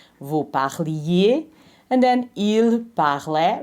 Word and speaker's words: parlait: And then il parlait. Remember, the S is not pronounced.